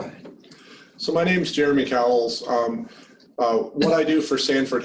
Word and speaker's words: Cauwels: Am I pronouncing your last names correctly? Is it Cauwels or Cauwels? It's Cauwels. Cauwels.